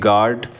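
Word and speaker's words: guard: তে বলা হচ্ছে যে আর এর পরে কনসোনেন্ট থাকলে আর এর উচ্চারণ করা হয় না যেমন জি এ আর ডি গার্ড এটা গার্ড না বলে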